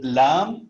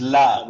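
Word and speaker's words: لا: This one is lam and alif. Is la. This is how you say la.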